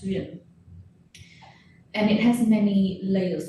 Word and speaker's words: duyên: And that word is duyên, and it's spelled D-U-Y-E-N. It's pronounced duyên.